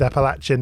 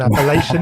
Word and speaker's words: Appalachian: I've heard that pronounced two different ways: Appalachian and Appalachian. Yeah. Generally, if you're in the north, it's Appalachia. If you're in the south, it's Appalachia.